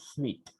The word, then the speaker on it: suite: But you'll come to know the meaning of suite, that you have to check, and its pronunciation also, because we may tend to call it suit, but it is pronounced as suite.